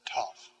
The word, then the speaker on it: tau: t sound just like in english t t pronounced toff and then epsilon long e as in feet